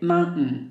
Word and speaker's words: mountain: Village logs canal tents the last one is mountain or we can say Mountain especially North American people they say Mountain they do not pronounce letter T I think this is